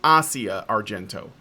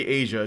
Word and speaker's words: Asia Argento: now written a new opinion piece on the Asia Argento case. Yes, that's right. It's pronounced Asia Argento. Sorry, it's just the way it's pronounced. So if you hear somebody say Asia, just correct them.